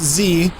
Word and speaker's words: dZi: Cassie from team dzii team Z pronounced Z you see it as dzii but uh riding in